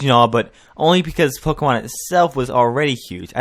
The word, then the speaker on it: Pokémon: you've heard the term Pokemon but what exactly is it well right off that here I am relieved that she's pronouncing it Pokemon instead of Pokemon so Pokemon is is